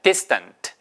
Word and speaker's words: distant: 자, 세 번째도 앞에 액센트 있습니다. distant. 그래서 D-I-S-T-A-N-T지만 발음이 distant가 아니고 distant. distant.